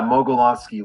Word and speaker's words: Mogelonsky: little stammer when it comes to your name Meloni did I pronounce right now that's it yeah molony long uh long last name of Russian descent